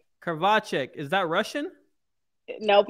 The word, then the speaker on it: Krivachek: Krivachek. Is that Russian? Nope, it's Czech. Czech, like Czechoslovakia, if I'm pronouncing Czech Republic.